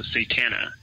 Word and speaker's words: Satana: would identify herself as satana so I guess if you had to spell that you know s a t an like Satan with an A so satana and apparently is uh